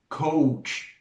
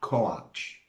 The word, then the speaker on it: coach: And that is the reason we say coach and not coach.